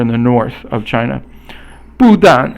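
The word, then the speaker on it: 不但: 不但 is fourth tone, both are fourth tone, which is a falling tone, and it means not only.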